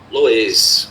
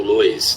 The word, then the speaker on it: Loess: Tem um solo especial, amarelado, lá da China, que se chama Loess, ou Loess, né? Enfim, não vou nem pronunciar da maneira correta, mas você pode chamar das duas formas.